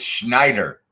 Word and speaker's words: Schneider: Maddie, shake your head yes if I should pronounce it Schneider Electric. Schneider Electric. There we go. It's Schneider.